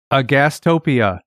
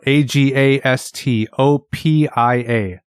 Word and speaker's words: agastopia: The first word, agastopia, and that's spelled Agastopia. Agastopia. Okay, so it's spelled exactly as it sounds. Pretty much. Yeah. It's spelled phonetically.